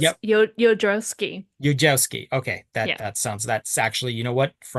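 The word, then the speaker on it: Jodorowsky: still can't pronounce so I have heard that the J's are y sounds, so it. it's Yep. Yodrowski.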